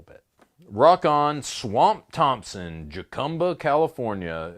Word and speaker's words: Jacumba: Rock on Swamp Thompson, Jacumba, California. It's a Spanish-style name. You pronounce it like jalapeno. That's really weird. Jacumba, pronounced jalapeno.